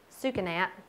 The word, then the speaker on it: Sucanat: main ones so first this is suka nap that's how I say it a lot of people say it differently say it however you like yes you see a